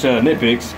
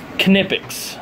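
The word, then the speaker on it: Knipex: He pronounces this knippicks. He said in Germany they actually pronounce the K.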